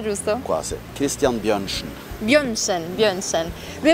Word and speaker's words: Bjørnsen: Ho pronunciato giusto? Quasi. Christian Björnsen. Björnsen.